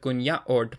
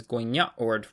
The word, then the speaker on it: kunyahwurd: For example, in Bining Gunwok, the word gunyaord has the common prefix gun attached to the root word yaord, but it would be incorrect to pronounce it as gunyaord with a palatal nasal, which would be written with NJ, and this is why